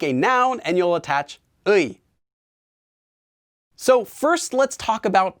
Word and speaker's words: 의: Now you can still pronounce it as 의 even when it's used as this particle, but it's much less common. More often you'll just hear it as 에.